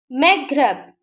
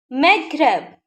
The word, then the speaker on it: Maghreb: Maghreb, Maghreb. Snob, Snob. Okay, we are pronouncing the letter B.